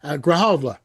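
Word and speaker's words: Grijalva: Graalva that is correct.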